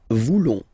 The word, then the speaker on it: voulons: Then for nous, classic ending, ONS, don't pronounce the S, just pronounce the on. Nous voulons.